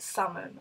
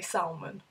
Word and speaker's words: salmon: oil theater iron sands every time i look at salmon i want to say salmon because that's how it spelled oh my god i